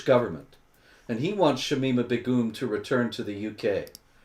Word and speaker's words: Begum: Okay, JD says it's not Begum, it's Begum. We have to say it right, David. It's Begum.